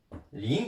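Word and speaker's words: 零: Il se prononce aussi Ling, les deux, donc il y a deux écritures.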